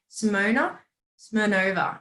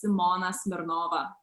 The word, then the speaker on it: Simona Smirnova: This way everyone can understand. But in Lithuania, it's pronounced as Simona Smirnova.